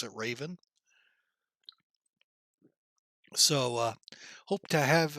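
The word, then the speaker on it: Ravn: now called raven r-a-v actually r-a-u-n but they pronounce it raven so uh hope to have a good time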